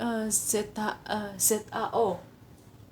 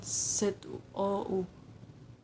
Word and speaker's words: 早: Zhao itu pagi, Zhao ZAO bukan ZOU, ZAO.